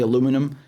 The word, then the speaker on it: aluminum: the floor sleeping with these aluminium blankets i know americans say aluminum um what what is